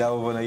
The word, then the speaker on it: Awobona: You actually did Awobona, yes, you got it right.